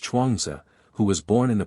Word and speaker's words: Chuang Tzu: The historian Sima Chen, whom I have already quoted, gives an account of Chuang Tzu, pronounced Chuangzi, who was born in the province of Anhui.